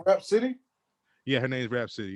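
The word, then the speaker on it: Rapsody: though, and Her name Rap City? yeah, her name's Rap City, yeah, but like City is like SODY. Huh? Her yeah, it's spelled like rap then SODY like for city.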